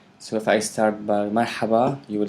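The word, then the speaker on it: مرحبا: So if you could write marhaba, phonetically, the way you hear it for now. Okay. Marhaba. And then you have ahlin. Yeah, ahlin. Marhaba, ahlin. This is the ha, marha, and then this normal approach.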